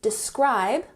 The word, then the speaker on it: describe: So, could you please describe, emphasis on the second syllable, describe a typical, emphasize the first syllable, typical day in your life?